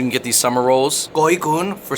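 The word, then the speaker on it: gỏi cuốn: Goonun. For $6. Very. All right. For $6, you can get these summer rolls. Goonun.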